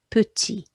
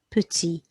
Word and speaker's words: petit: We've got an E there before one consonant, so it's making that tennis player E sound. The letter I goes E. The T on the end is silent, so petit.